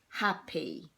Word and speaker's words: happy: So the Y sounds like an E. Okay, so that's how we spell happy.